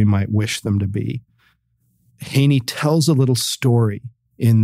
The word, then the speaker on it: Heaney: Haney I can't remember I think it's I think um Sheamus Haney is how you're supposed to say his name so forgive me if